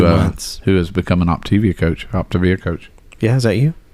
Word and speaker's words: Optavia: Optavia. Optavia? Yeah. It's not Optivia? Some people pronounce it that way, but when I've done the Zoom meetings for the initial consult or whatever, they always say Optavia.